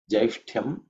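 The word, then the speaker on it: ज्यैष्ठ्यम्: This word has jai, okay? Jai. After that, it is ush, ut, ya. There are three consonants involved in a compound consonant. Ush is the cerebral sh with the tongue, tip of the tongue pointing upwards.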